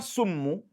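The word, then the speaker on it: سم: will change the meaning, because thumma is then, that is thereafter, but the word summu by sin means poison.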